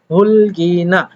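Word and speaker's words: 흙이나: তো সেই জন্য এখানে উচ্চারণ হচ্ছে হুলগিনা।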